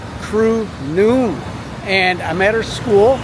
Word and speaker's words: Noon: But spelled N-O-O-N, like 12 o'clock lunchtime. I just chose that because it look cute. Actually, it's if you spell it Thai alphabet, it be a short vowel.